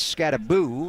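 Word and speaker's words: Skattebo: even though it's one it is not Bo it's scabo and I said come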